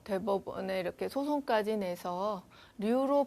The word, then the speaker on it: 류: 그 아마 그 뭐 대법원에 이렇게 소송까지 내서 류로 발음할 수 있도록 그렇게 판결을 받은 그런 성시예요.